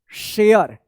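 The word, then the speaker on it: share: देखिए आर ई है तो इस ए का य उच्चारण होगा और इस लास्ट वाला इ का कोई उच्चारण नहीं होगा। तो देखिए यहां पे क्या होगा? शेयर।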